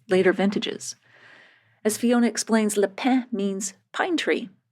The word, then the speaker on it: Le Pin: vintages as Fiona explains Leen means pine tree it's spelled l e and then space p i n that's why I said lein at first the estate was